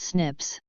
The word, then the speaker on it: SNPs: being single nucleotide polymorphisms snps pronounced Snips snps can be found